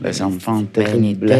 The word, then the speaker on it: Les Enfants Terribles: E la prima formazione si chiamava Les Enfants Terribles, pronunciato bene? Sì. Les Enfants Terribles.